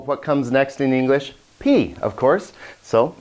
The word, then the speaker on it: pi: P, of course. So it's same in Greek, actually, P. Remember, not pi, but P.